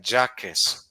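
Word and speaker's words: Jacques: en inglés j k jackes q u e s jackes pero se pronuncia Jack porque él es francés Pero vive allá en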